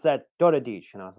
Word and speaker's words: Daradics: called it right out he's like hungarian you pronounced that dota dich and i was like yeah but that was